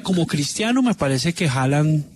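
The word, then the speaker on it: Haaland: cristiano Me parece que halan aunque dicen que se dice Holland no Holland se pronuncia en noruego pero a mí me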